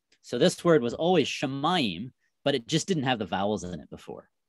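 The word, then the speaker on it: שָׁמַיִם: So this would be pronounced Shamayim.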